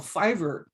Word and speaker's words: Fiverr: client was a link for a website called fiverr and yes it's spelled like you see in the left left